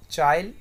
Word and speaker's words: Chile: So this country is चिली, like you can you may pronounce it chile, chili, whatever you want to do.